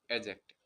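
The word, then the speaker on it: adjective: वैसे साथियों जो एडजेक्टिव नहीं होता, डी साइलेंट रहता है, तो इसे एडजेक्टिव बोलते हैं, एडजेक्टिव।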